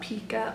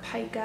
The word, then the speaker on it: pica: And if you are inadequate in your iron intake, it can increase your risk of something called pica or pica. I've heard it pronounced as well.